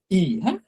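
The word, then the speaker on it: い: আর এটার উচ্চারণ হবে ই এটার উচ্চারণ হবে ই এখানে দেখেন ক্লিক করলে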